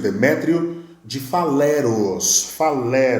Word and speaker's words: Demétrio de Faleros: também parceiro intelectual de um cara chamado Demétrio de Falaro. Acho que é assim que se pronuncia, né? Demétrio. É isso mesmo, Demétrio de Faleros. Demétrio de Faleros, corrigi aqui, ok?